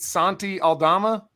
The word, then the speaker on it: Aldama: Treat Santi Aldama?